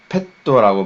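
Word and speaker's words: ペット: 자, 이건 펫도라고 발음합니다. 이 트가, 그쵸? 여러분 무조건 글자 2분의 1 크기면 앞에 있는 글자랑 결합이 된다는 사실을 잊지 마세요.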